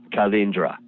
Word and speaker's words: Calindra: Well, Calindra, it has a Italian phonology to it. It's pronounced with Italian vowels. Calindra, Città di Calindra.